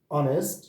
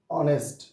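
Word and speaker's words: honest: এল ই এস টি অনেস্ট তাহলে এখানে এইচ এর উচ্চারণটা সাইলেন্ট এইচ এর উচ্চারণটা কি সাইলেন্ট এখানে অনেস্ট হবে না উচ্চারণ হলো অনেস্ট অনেস্ট তাহলে এখানে হবে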